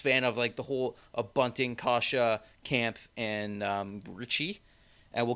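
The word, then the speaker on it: Kase: Kashe. I found out it's Kashe. Kasha. Oh, okay. Kasha, like Porsche.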